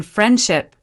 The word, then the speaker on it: friendship: For example, in friendship, the D often disappears.